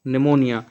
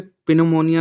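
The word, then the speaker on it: pneumonia: तो आंसर है जॉनसी वास सफरिंग फ्रॉम निमोनिया। यहां निमोनिया में जो पी है वह साइलेंट है। उसका उच्चारण नहीं होगा। तो आप इसे पिनमोनिया ना पढ़ें।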